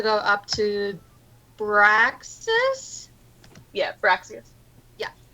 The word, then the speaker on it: Braxius: Just because I heard Fraxis and Braxis, and then I'm like, wait, oh my god, I think I've been saying it wrong in my head. It's a B. Braxis. Braxius. I-U-S.